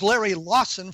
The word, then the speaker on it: Larry Lawson: My guest, Larry Lawson, was so annoyed that I mispronounced his name, he hung up on me. No, it is Larry Lawson, for those of you who are keeping score at home.